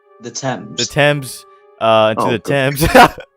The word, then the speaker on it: Thames: you say that t t h m s the temps the temps uh the temps London is closed